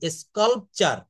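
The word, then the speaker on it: sculpture: এখানে টর না কিন্তু, স্কাল্পচার। স্কাল্পচার উচ্চারণটা শিখে নেন। এখানে TOR, এটা কিন্তু চার বা চর হয়ে যায়।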